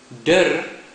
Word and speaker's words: der: saying you see dur is said in the same way that you would say the last part of the word Thunder dark clouds Lightning Crashes